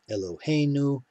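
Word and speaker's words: אֱלֹהֵינוּ: you'll have to memorize just like eloheinu is penultimate so also will be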